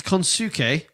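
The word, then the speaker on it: Konosuke: How do you pronounce it? It's Konsuke.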